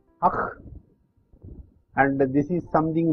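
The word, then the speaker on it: ஃ: This is called akh, and this is something like the pronunciation of akh. This is pronounced as akh, and it is a triangle of three small circles.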